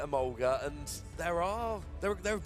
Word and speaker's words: Emolga: and I'm just like German pronunciation Emolga so I've always called it a mulga and there are there